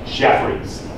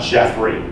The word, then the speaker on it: Jeffreys: So Jeffries is a person. This is the plural of it. So if it made sense, it would be spelled like that. So I just want to point out his name is Jeffries. Not Jeffrey.